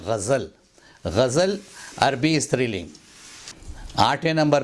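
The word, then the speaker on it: ग़ज़ल: 7वें number पे लफ्ज़ है, उसको गज़ल बोलते हैं। गज़ल नहीं, उसको बोलें गज़ल।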